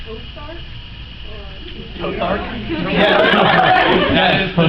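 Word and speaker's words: ToTheArk: Like Tothart? Tothart? Yeah. That is the new pronunciation. It's like, yes, Tothart, go out and slay the dragon.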